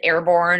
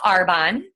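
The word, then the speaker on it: Arbonne: how to pronounce it is it airborne or are Bonnie or are Bonet it's our bond and what I love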